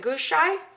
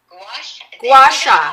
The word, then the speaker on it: Gua sha: How do you pronounce it? Gouache? Gua sha.